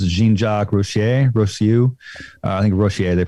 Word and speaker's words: Rousseau: I think Rousseau, they pronounce it.